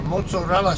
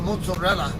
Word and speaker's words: mozzarella: Americans do and that's because it's an Italian word and I know some Italian so and I know how the Italian Linguistics rules are so so I call it mozarella because that's the that's